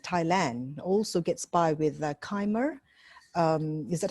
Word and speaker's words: Khmer: Also gets by with Khmer. Is that how you pronounce it, Lee? Khmer? Khmer? Khmer and Thai.